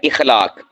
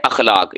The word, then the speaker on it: اخلاق: تو یہ صحیح کیا ہے؟ اخلاق، یعنی حمزہ کے اوپر زبر پڑھنی ہے۔ یہ جو اخلاق ہے